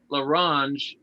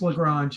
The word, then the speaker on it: Lagrange: for you that you you pronounce his name laronge i i would always thought it was lagrange or something like it's lagrange i just screwed up that's